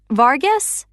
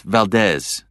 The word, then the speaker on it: Valdez: Vargas. Actually, it's Valdez.